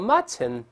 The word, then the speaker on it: mutton: 当然老师也说过 mutton 读快了之后是鼻腔爆破，还记得吗？